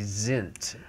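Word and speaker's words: sind: We said Die Gedankensen, S-I-N-D. But in Germany they told me it's supposed to be Sint.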